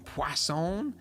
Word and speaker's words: Poisson: Poisson. There's no W in it, but I was told that that's how you say it. Shit. I guess it's French.